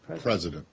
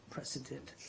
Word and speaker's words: precedent: President. Precedent.